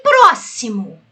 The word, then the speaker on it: próximo: E próximo? Qual é a sílaba tônica? Bem, ela está até acentuada. Então essa daqui é proparoxítona.